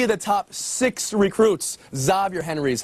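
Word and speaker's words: Xavier: stick around three of the top six recruits zavier Henry is how he pronounces his name marotti and yeah a team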